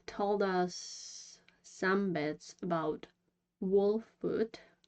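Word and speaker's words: Wolfwood: us some bits about wol foot that's how it's supposed to be pronounced but I will probably say walls foot many times because that's what I'm used to say uh like I've said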